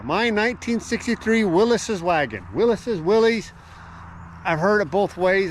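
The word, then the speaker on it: Willys: 1963 Willis's wagon Willis's Willies I've heard it both ways i' I've been told that he pronounced it Willis's even though it's spelled Willies this here is of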